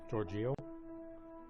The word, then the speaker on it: Giorgio: Giorgio. De Giorgio. De Giorgio. It feels like we're not pronouncing the first I. That's Yeah, what it's a J instead of a G. It's Giorgio. Giorgio.